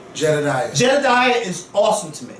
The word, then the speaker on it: Jedediah: And that, how do you pronounce her name? Jedediah.